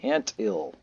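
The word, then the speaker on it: theantil: But anyway, I had a viewer named the Ant Ill, that's the way I pronounce it, T-H-E-A-N-T-I-L number 7.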